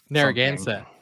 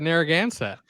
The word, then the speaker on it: Narragansett: that beer is called then take the Nerf Narragansett that one there again how you pronounce that that's fantastic yeah he pronounced it